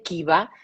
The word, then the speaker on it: Kiva: lo queréis buscar luego se escribe con K y con V, Kiva, que en finlandés es el acrónimo de Kiusaamista vastaan, que significa contra el acoso escolar.